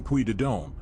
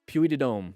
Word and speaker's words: Puy de Dôme: Through France's stunning Puy de Dôme, a region. Puy de Dôme.